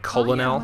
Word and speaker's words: colonel: But tell The us, fact that it's spelled what are your C-O-L-O-N. Oh, like I colonel?